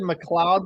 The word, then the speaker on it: McLeod: So when I did McLeod in the video, people were like, dude, it's actually like you say McLeod.